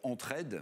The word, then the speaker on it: Entre-Head: qui est assez astucieux, ça s'appelle Entraide. Bon, on aide, évidemment, mais ça s'écrit H-E-A-D, comme aide la tête, hein, comme on dirait headquarters, le siège social d'une entreprise.